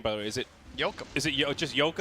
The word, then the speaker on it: Yoakam: Is it Yoakum. just Yoakum? It's Dwight Yoakam.